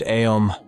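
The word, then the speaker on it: Aum: fact it turns out it's more correct to pronounce it aom instead of om because it consists of three sounds uh and um the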